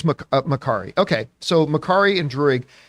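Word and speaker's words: Makkari: Oh, some people in the live chat are saying it is Makari.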